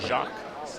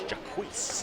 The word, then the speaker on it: Jaquise: And, I think, with number 27 on the red side, we'd always wondered, was it Jacques or Jakes or Jax, but it's Jaquise. It is indeed.